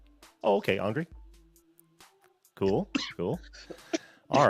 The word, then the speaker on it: Andry: Yeah, so Give, my name is Andry. It rhymes with laundry. oh, okay, Andry.